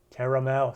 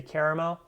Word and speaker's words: caramel: So what we pronounce normally, well, I wouldn't say normally, but a lot of people here in the States say caramel. Other people say caramel. Caramel. Both pronunciations are correct. Just depends on where you live.